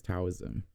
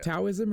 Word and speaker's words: Taoism: is Asian and practice Taoism. Is it Taoism or Taoism? I believe it's pronounced with the D sound.